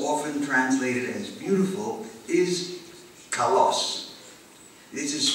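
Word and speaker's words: καλός: that is most often translated as beautiful is Kos this is spelled I will spell it in English spelling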